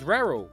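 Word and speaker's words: Raúl: Who's made the most appearances for Real Madrid and rhymes with Jarul? That's right, it's Raul.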